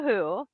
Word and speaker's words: Hu: So you have to look up The Who, Wolf Totem, and it's spell it again.